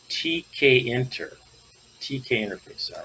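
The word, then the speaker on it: tkinter: let's kind of start out at the beginning here with the introduction pronounced tk enter tk interface all right that's great all right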